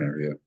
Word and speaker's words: est: It's the cognate with the Latin est, which then became in Italian e, and in French written the same but pronounced e.